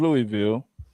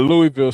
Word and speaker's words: Louisville: I'm shouting out Louisville Slugger, the Louisville Zoo. First of all, it's Louisville. Like I said, it's not Louisville.